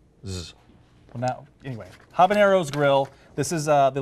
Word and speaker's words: Habanero's: Grill Habaneros Grill sorry we were saying it wrong amongst ourselves it's Habaneros as in it's the possessive of habanero what did I just